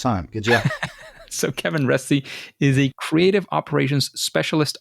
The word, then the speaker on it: Reste: because we have Kevin Ry with us today Ry is that is that the way to pronounce it yeah yep yep you're one of